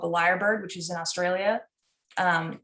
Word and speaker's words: lyrebird: that i'm talking about a bird called the liar bird which is in australia um and it's spelled yeah cassandra knows do you have you